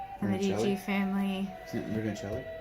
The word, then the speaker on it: Brunelleschi: Isn't it Brunelleschi? Brunelleschi.